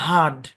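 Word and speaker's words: hard: যেমন এই শব্দের উচ্চারণ ব্রিটিশ ইংলিশে বলা হয় হার্ড কোন আর হবে না এখানে কোন আর হবে না হার্ড হার্ড উচ্চারণ হবে হার্ড হার্ড হার্ড উচ্চারণ হবে হার্ড আমেরিকান ইংলিশে এই শব্দের উচ্চারণ হার্ড হার্ড এরকম ব্রিটিশ ইংলিশে এই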